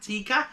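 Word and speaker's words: Teika: This is 5%, and it's a Latvian lager, and it's called Aldaris Premium Lager Tika, not as in chicken tikka, but T-E-I-K-A, Tika.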